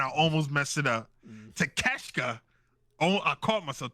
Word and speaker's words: Takeshita: Takeshita. Oh, I caught myself. Takeshita.